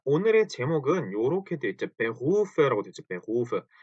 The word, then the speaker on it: Beruf: 근데 사실은 Beruf인데 Beruf, Beruf, 루 해서 목 안이 뭐랄까 떨리는 것 같은 Beruf 이런 소리가 이런 소리가 목 안에서 나는 소리입니다.